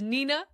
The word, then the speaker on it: Nina: a character glossary, and it has Nina with the pronunciation of Ni-na. Bam! Roasted! I'm right, Jordan's wrong."